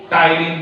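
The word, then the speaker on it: ptyalin: हाँ, मैंने कहा था पी साइलेंट है, टाइलिन नहीं बोलेंगे, टाइलिन बोलेंगे। पी क्या है? साइलेंट हो गया, ठीक है। पी साइलेंट हो गया, टाइलिन हो गया।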